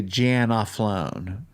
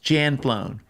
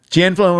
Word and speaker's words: Janflone: It's just And then a lot of people add a syllable. They say Janaflone. No, that's not correct. Two syllables. Janflown. All right. Janflon rhymes with handbone.